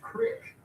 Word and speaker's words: creek: Thompson says crick. It's pronounced crick. Please do not tell me you guys call creeks cricks.